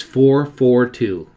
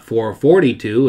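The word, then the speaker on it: 4-4-2: we'd like to emphatically state that the correct pronunciation according to the earliest Factory literature is 442 it's not 442 as we often hear it designates a performance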